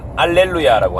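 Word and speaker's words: alleluia: 너무나 안 좋은 설인데 이탈리아에는 히읗 발음 자체가 없습니다 그래서 할렐루야라고 하는 단어를 이태리에서 알렐루야라고 하죠 히읗 발음을 없어요 힙 발음이 없어요 그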